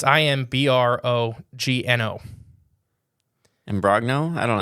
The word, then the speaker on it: Imbrogno: So, I'm saying his name wrong. Imbrogno. It's Imbrogno.